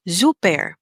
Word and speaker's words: super: have zouper okay so you hear that the s is pronounced like a letter z super okay and the er at the end in english is er but in german it's air zouper okay then we have